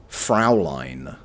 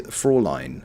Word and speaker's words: Fräulein: British actor who I did recognise saying Fraulein. That's wrong, isn't it? It's like, come over here, Fraulein. No German would ever say that, right? Or it's the Fräulein. Fräulein or Frau... Look, they said it wrong.